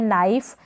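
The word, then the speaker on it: knife: Infant, ये है नाइफ, के यहाँ पर साइलेंट है, नाइफ, के को छोड़कर हम एन से पढ़ेंगे, नाइफ।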